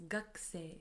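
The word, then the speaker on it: 学生: me g means student although we write it as G say we pronounce it as gak gak as if the U from C disappears so as for me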